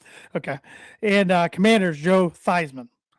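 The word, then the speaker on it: Theismann: Thesisman was his name until he changed it at Notre Dame. Legally changes to Thyman. So it would rhyme with Heisman.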